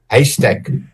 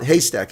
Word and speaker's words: Heystek: Heystek. That's what I thought. Heystek. I mean, but it almost is like saying haystack in English. Like if you picture a needle in a haystack, you pronounce it exactly.